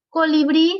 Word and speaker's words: colibrí: ¿Por qué colibrí se acentúa? Porque tiene su sílaba tónica en la última y además termina en vocal. Y la regla dice que para que se acentúe, tiene que terminar en vocal.